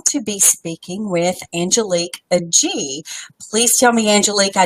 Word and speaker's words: Agee: treat we're going to be speaking with Angelique a G please tell me Angelique I know you're not in yet but did I pronounce your name correctly d AG AG okay